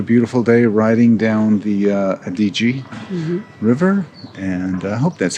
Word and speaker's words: Adige: Um another beautiful day riding down the Adige River, and I hope that's how you pronounce it. It's actually pronounced Adige.